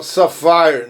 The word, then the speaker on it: sapphire: Ó, sapphire, não é o safari da África, não, mas a pronúncia lembra muito, é sapphire, que é a safira.